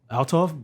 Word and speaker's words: Althoff: Althoff? Yeah, Bobbi Althoff. Althoff?